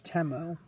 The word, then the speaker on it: Temu: They sell those on Timu as well. I think I might even be saying it wrong. I think it's Temu.